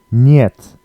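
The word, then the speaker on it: нет: means yes word two niet it looks a bit like hit but it's um the E is pronounced as a y e so yeah instead of E so niet means no means next word we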